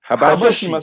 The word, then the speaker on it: Habashi: Habeshi. What's Habeshi? Habashi, say pronounce it properly, man. Habashi. That's how we say it.